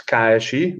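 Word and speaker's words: KSI: um i started in tsi we pronounce kaishi this is the the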